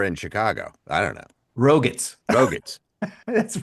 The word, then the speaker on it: Roget: Dave, I don't know how to pronounce this. Is it Roget's Roget? thesaurus? It's Roger.